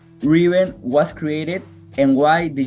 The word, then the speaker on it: Reaven: And if you mix like the word rêve with heaven and pronounce it with an E, it means Reaven.